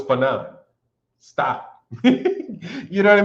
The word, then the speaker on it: Fannon: Fanon, did you know your name is like Fannon, like Shannon?